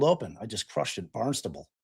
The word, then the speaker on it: Barnstable: Barnstable. Yeah, one word. Uh sounds like barn stumble but without the M.